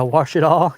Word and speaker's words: Ouachita: Spelled o u c h and then a tall. Yeah, wash it all. Yeah. Yeah, it's it's it's very interesting. The because it's you would want to spell it with a w, but it's actually technically spelled with an o.